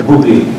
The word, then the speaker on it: Booblee: Booblee.